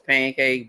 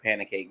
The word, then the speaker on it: pancake: they know it's Panic they know it's pancake but they just be like Panic cake they like yeah I